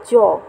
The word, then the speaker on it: য: এগুলি যখন উচ্চারণ হয় দেখো জ অর্থাৎ ইংরেজি ওয়া এর মত উচ্চারণ আছে আর অন্তস্থ বটা হচ্ছে